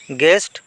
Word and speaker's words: গেস্ট: ইয়াতে W silent বর্ণ গেস্ট গেস্ট মানে অতিথি ইয়াতে ইউ টু হইছে সাইলেন্ট বর্ণ সাইন্টিফিক সাইন্টিফিক মানে বৈজ্ঞানিক